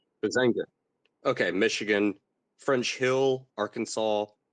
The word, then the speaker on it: Huizenga: Lucas, Oklahoma, Pete Sessions, Texas, Bill Huizenga? I can't pronounce his last name. Huizenga.